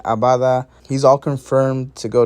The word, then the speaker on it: Abada: But Liel Abada, not Adaba, Liel Abada, he's all confirmed to go to Charlotte FC, courtesy of Pete O'Rourke on Twitter.